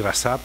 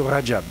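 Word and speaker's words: Recep: Là aussi le nom de Rajab Tiban jamais il faut pas le bien prononcer de temps en temps j'entends qu'on dit rassap rassapand voilà tout monsieur Rajab Rajab Tayb Ardavan vous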